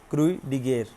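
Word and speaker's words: Croix de Guerre: क्रूई डिगेर, that is द pronunciation of this terminology, it's a French reward।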